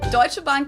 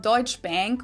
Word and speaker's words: Deutsche Bank: English native speakers usually pronounce it Schwarzkopf or Schwarzkopf or something along those lines. Deutsche Bank is the largest bank in Germany.